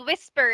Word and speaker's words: whisper: So, we have the word whisper, right? That is our base form. Whisper. We don't say whisper, right? Hindi naman natin ganun binabasa yung whisper. The first syllable is the one that is stressed.